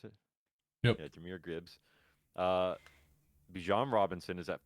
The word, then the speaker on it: Jahmyr Gibbs: Is that how you pronounce it? Yep. Yeah, Jahmyr Gibbs.